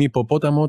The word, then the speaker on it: hipopótamo: japanese un hi cuidado un hipopótamo también tiene un acento cuidado history historia con